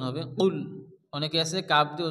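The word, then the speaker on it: قل: আছে কফ লাম পেশ কুল এখানে কফ দিয়ে উচ্চারণ হবে কুল অনেকে আছে কাফ দিয়ে উচ্চারণ হবে কুল পড়ে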